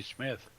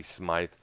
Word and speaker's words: Smyth: It's pronounced Smythe. And people presumed that it was Smith because of the way it was spelled there, but it was definitely Smythe.